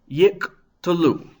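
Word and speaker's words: יִקְטְלוּ: So the first Shewa, the Shewa under the Qof, closes a closed syllable, yik. The second Shewa under the tet is itself an open syllable, t, and then the word ends with an open syllable, lu, yik to lu.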